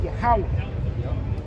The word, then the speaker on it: Yahweh: It will break it down in the Assyrian, and you'll see it will say Yah, Ha, Wah, Ha, and you put it all together, it will be Yahweh.